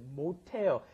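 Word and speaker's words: 못: Now notice that pronunciation may sound a little strange. You've got mo which has an s at the bottom followed by the hada. Why does it come out t mot? Because that s at the bottom when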